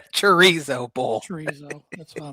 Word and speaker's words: chorizo: The episode title should be "Watch Tanner Pronounce" or "Listen to Tanner Pronounce Chorizo with a K."